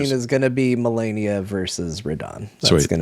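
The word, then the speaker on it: Malenia: I don't think it's millennia because millennia is like years, That's right? that's Like, Yeah. 1,000 years. So it's Melania, Blade of Michaela, and then there's Michaela of the Halig Tree.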